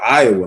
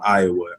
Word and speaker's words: Iowa: So Des Moines, the S is silent. Yeah, Des Moines, Iowa, man.